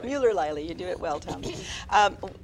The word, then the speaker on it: Muellerleile: Muellerleile. Muellerleile.